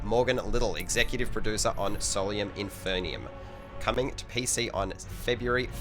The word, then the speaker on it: Solium Infernum: Because we're making Solium Infernum.